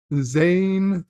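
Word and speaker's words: Zhane: he portrayed Silver Ranger Zane the H is silent Power Rangers in Space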